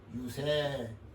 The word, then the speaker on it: 유세: 쓴다는 하나가 있어요이 말씀설 여기는 설이라 하면 안 되잖아요 선거 때 모든 사람들을 자기 편으로 찍기 위해서 그들을 달래지 않아요 말로 그 달새 세로 발음이 돼요 그 뭐죠 유세 아주 고급스러운 단입니다 그거